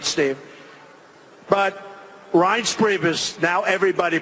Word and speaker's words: Reince: They called him Rance. Steve Wynn just called him. He's still not pronouncing it right, Steve. But Reince Priebus, now everybody pronounces his name right.